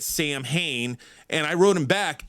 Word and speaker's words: Samhain: And the other thing is, he said, you didn't pronounce Samhain right. You don't say it Sam Hain.